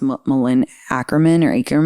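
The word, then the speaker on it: Malin Akerman: Also like Katherine Heigl and I think it's pronounced Malin Ackerman, who's her sister.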